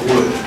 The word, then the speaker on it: would: It sounds just like the, like something made of wood, W-O-O-D. It sounds the same.